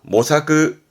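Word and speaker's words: 模索: 했던 거 모자, 모색하다, 모사크, 모사크. 그렇죠. 이게 색인입니다.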